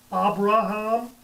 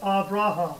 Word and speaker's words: Abraham: it V in English that's why some people say Abraham and others say avraham it's the same letter the length of time